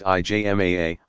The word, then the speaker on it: ijma: Ijma, pronounced IJMAA, of legal scholars.